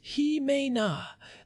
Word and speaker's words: JIMENA: You are talking about groups like JIMENA, pronounced He-Me-Na, the Jews indigenous to the Middle East and North Africa.